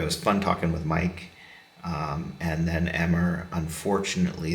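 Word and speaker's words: Meic: Um and uh Mike is spelled M E I C. Um good Welsh Welsh spelling there.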